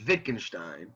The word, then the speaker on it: Wittgenstein: minute wittgenstein he's j he's german so you you pronounce the w like a v so it's wittgenstein uh but yeah don't